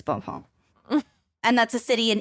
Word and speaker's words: Bhopal: One of history's worst industrial disasters happened in December of 1984 in a city called Bhopal. I'm sorry, I don't know if I'm pronouncing. I think it's Bhopal.